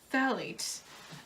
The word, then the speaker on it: phthalates: However, it may contain phthalates. Like, you don't even pronounce the PH.